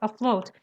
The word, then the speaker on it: afloat: Afloat. Afloat. Yeah. Afloat? Yes, afloat. It starts with an A, but it's pronounced like a schwa.